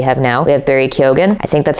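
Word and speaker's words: Keoghan: to pronounce his name I think that's how he pronounces it so that's how I'm going to pronounce it or Killian Murphy or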